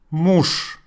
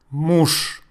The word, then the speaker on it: муж: Муж. Муж. Yes, indeed, I pronounce the last letter Z as sh because it is last in this word.